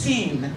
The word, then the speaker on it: sin: without is not sinful it's not sin it's pronounced seen s i n sinen